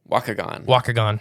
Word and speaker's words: Waukegan: Waukegan. Yeah. Spelled like walk.